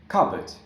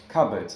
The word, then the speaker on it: cupboard: Like, for example, yeah, so I think this one, cupboard, yeah? Cupboard, yeah? So this p is not pronounced. Why? Because we have this b.